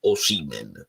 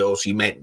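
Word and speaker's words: Osimhen: chiedo scusa Tra l'altro nell'ultima intervista di osi lui ha ripetuto osimen Quindi tutti quelli che continuano a dire osimen in tutta Italia volendo proprio essere puntigliosi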